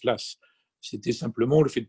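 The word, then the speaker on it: Law: Le système de l'AS, et on prononce l'AS, c'était simplement le fait de passer au papier-monnaie.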